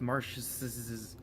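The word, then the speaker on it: Marschz: I'll put his name right here so you can see how it's spelled. But it's Marsh's, and they just say fucking weird ones.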